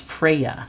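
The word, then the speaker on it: Freyja: card and we have I think it's pronounced Freya it's F re y j a but I don't think you say the J and it's bold it's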